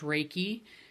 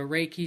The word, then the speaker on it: Reiki: our audience I've introduced you as a a raiki master and a ra raiki teacher for somebody